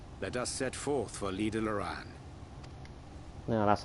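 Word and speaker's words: Lydha Lran: Now, if all is in order, let us set forth for Lida Loran. No, that's how you pronounce it.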